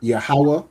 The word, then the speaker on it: Yahweh: Okay, so it is pronounced as Yahweh, which is, what is Yahweh?